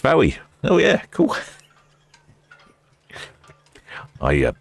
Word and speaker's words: Fowey: Uh shipmate Tim says that Fowey's Fowey's pronounced Fowey.